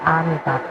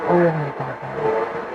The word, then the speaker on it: Amitabha: But actually, it should be A. Because A would be closer to the Sanskrit syllables, like A from the A. So it should be chanted as Amitabha and not Omitaba, because the Omitaba is from the movies.